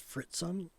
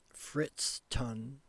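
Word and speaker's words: Friston: Carl Carl Fritzen I want to say his name as Fritzen Fritain. I don't know why like I like it. It's Carl Fritz Ton first ton, but for some reason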